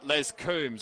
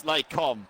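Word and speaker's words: Les Combes: Well, Penske called this corner Les Coombs on Saturday during the live stream. It's Laycomb Penske, just for the pronunciation guide.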